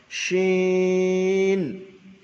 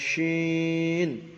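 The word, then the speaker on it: شين: শিন জিবের মাঝখানে, যেটা বড় শিন বলা হয়, অর্থাৎ তালবস্বরে উচ্চারণ করা হবে, শিন। হামজা দিয়ে দেন জিবের মাঝখান, তার বরাবর উপরে তালুর সঙ্গে লাগিয়ে উচ্চারিত হয় শিন।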